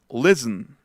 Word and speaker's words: listen: Favorite, heaven, listen. Otra vez. En la de listen, en la de escuchar, hasta se pierde la T.